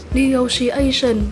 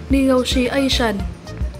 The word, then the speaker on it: negotiation: hai cách đọc là negotiation và negotiation. Mình xin đọc lại hai cách đọc của danh từ này là negotiation và negotiation. Ở danh từ này chúng ta nhấn âm 4 nhé.